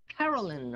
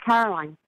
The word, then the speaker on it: Caroline: to go here to carolyn or caroline how do you say your name is caroline yeah welcome to the